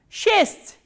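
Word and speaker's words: шесть: Shest, shest, sh, ye, s, t and soft sign.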